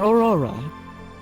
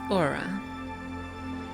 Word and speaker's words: Aura: a care for it I just keep Miss pronouncing as Aura Aurora common slip of the tongue give me the that oh it's Aura AA thank you dear now